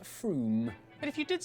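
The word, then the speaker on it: Frome: your train it should be blitheringly obvious it's pronounced Froome but if you did say Froome don't worry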